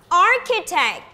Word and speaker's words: architect: see right architect now now architect the stress should be on the first syllable that's right now class